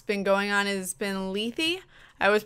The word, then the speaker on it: Lethe: way um what's been going on is been Ley I was pronouncing it leth in the beginning it's l e t h